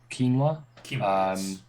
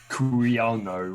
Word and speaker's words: quinoa: So going from sweet potatoes, coca leaves, peppers, corn, quinoa. And then you go, as I just very, very quickly remembered how to actually pronounce that word before I said something like curiano or something like that.